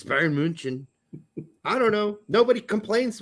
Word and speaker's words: München: It's Bayern München.